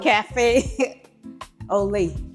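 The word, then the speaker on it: café au lait: How do you pronounce it, Jacinta? Cafe Olay.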